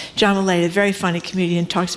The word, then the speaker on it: Mulaney: Somebody just texted me about the John, I always mispronounce his name, is it Mulaney or Maloney, the comedian? Mulaney, thank you very much. John Mulaney, a very funny comedian,